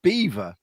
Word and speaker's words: Belvoir: not seem rude but the name Belvoir is usually pronounced as Beaver there is also a